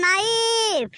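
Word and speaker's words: knife: বাবা বেড়াঘাটার ব্যাটা বল কে এন আই এফ ই এটার উচ্চারণ নাইফ আরো এটার অর্থ হবে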